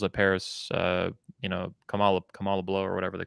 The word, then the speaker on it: Kamala: you could you could never say kamala it's kamala uh and you're culturally insensitive if you mispronounce that uh yeah it's i think it's